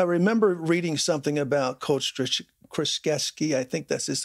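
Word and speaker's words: Krzyzewski: I was I remember reading something about Coach kraskevski I think this is how you pronounce his name Duke University's head coach joshesky that's correct thank you for helping me with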